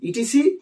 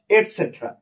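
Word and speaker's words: etc.: আলাদা করে উচ্চারণ করি আবার ইটিসি ইটিসি বলা হয় না এটা সাধারণত কি বলা হয় এটসেট্রা তো এসেট্রা বলার কারণেও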